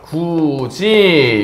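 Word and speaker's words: 굳이: 때도 배워요 그죠 자 여러분들 굿이 이거 어떻게 발음 됩니까 구지 요렇게 발음되지 굿이가 구이로 발음된다 거 자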